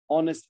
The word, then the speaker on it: honest: Okay, now the H, the letter H is sometimes silent at the start of words like honor, honest.